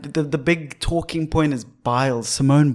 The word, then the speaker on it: Biles: And the big talking point is Biles, Simone Biles.